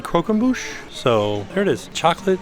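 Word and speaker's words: croquembouche: buet kroe so I asked them how to pronounce it they said kmush so there it is chocolate Hazelnut and and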